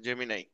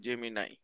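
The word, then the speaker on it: Gemini: হচ্ছে গুগল ঠিক আছে জেমি নাই উচ্চারণ এটা জেমিনি না জেমি নাই তবে 2028 এর অলিম্পিক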